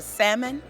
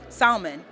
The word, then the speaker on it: salmon: they also have a salmon salmon salmon because you're not supposed to pronounce the L who said it's not